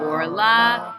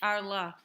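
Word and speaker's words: ערלה: So you see under the ayin, that word is pronounced orla. Okay. Under the ayin, you have a vowel, that sort of a vowel. It's called a kamatz. Do you see it? And it's bold. Arla. Yes, but it's actually pronounced orla.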